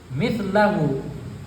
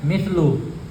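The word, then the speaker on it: مِثْلَ: Masiru dhilli syai' mithlahu. Di sini teksnya masiru, di sini masiru, bukan masih. Yang benar adalah so. Di sini sin. Baru bacanya mithlu. Yang betul adalah mithla.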